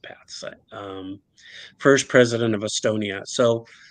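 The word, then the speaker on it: Päts: Konstantin Pats, I believe it's pronounced Pats, first president of Estonia.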